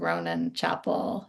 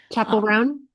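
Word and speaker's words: Chappell Roan: I've been listening to a lot of Ronan Chapel. Is that her name? Am I saying it correctly? Chapel rone.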